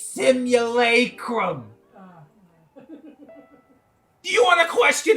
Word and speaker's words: simulacrum: the day simulacrum yeah i said it right simulacrum simulacrum an image or representation of someone or